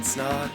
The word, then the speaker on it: Snaadt: My name is Snaadt. It rhymes with odd, and I'm out.